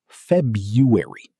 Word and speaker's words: February: Sounds like February or FEB-yoo-ery. 3 syllables in natural speech. Tip: the first R is often silent in everyday speech. Many native speakers say FEB-yoo-ery. Both versions are acceptable.